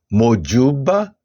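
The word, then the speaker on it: mojúbà: Exemplo: mojuba, a sílaba ju é a mais forte.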